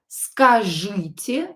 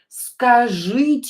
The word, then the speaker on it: Скажите: Скажите means tell me.